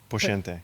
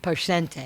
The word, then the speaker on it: Poscente: And I'm going to say his name wrong again because I say Max Plantante, but it's Poentiente. Poente.